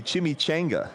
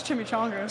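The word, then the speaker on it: chimichanga: What do you think about that pronunciation? It's Chim Chonga. So, it's incorrect as well. It's actually incorrect. And we can say that Carvin Hill, we're coming for you. It's not Chimchango.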